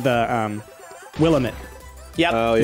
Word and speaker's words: Willamette: talked to him he informed us it's not will limit its Willamette yeah man that's how you can remember damn